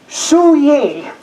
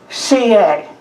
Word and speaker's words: Suye: there and you will see it looks like sue yay she was born in Japan looks like suey but it's pronounced CA and the truth is I don't know if